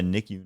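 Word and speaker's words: NICU: Nick e a b e so she's a nicku nurse yeah yeah yeah in in La Hoya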